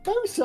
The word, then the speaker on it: bosun: spelled boatswain, but it's bosun.